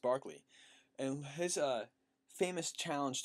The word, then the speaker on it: Berkeley: at the British philosopher Barkley it looks like Berkeley both I see pronounced Barkley and has a famous